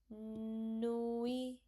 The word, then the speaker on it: nuit: You have to pronounce it like bonne bonne bonne nuit nuit. You don't have to pronounce t. So it become bonne nuit bonne nuit Bonne nuit means good night.